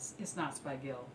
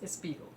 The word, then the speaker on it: Spiegel: say to me, Linda, it's not Spiegel, it's Spiegel.